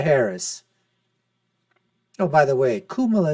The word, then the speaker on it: Kamala: Oh, by the way, Kamala is a way that you do pronounce it in Hindi, I am told by some of my Indian friends.